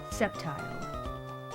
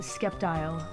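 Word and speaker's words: Sceptile: Back in the day, I read Septile as a skeptile. So, when I first heard the word skeptical as a child, I was like, "Does that have something to do with the Pokemon Septile?" But I I called it Skeptile back then.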